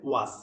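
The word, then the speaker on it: worse: এটাকে অনেকেই ওর্স উচ্চারণ করেন, নো, এটার উচ্চারণ হবে ওয়াস, ওয়াস।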